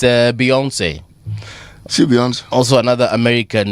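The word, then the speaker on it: Beyoncé: Ile is pronounced. But yeah, it's Beyonce.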